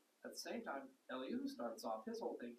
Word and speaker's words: Elihu: Yeah, I think the thing that was always fascinating to me was how Elihu, however you pronounce his name. Elihu, thank you.